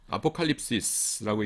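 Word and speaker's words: ἀποκάλυψις: 그래서 묵시문헌, 아포칼립시스라고 읽는데요.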